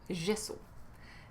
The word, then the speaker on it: gesso: bien entendu parler du gesso on peut aussi le prononcer gso mais à quoi ça